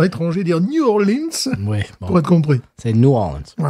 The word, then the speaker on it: New Orleans: Et sa façon savoureuse de prononcer New Orleans. Voilà, pas de S à la fin, si vous voulez faire le local.